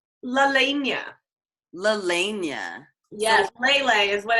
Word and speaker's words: Lelehnia: Lelania.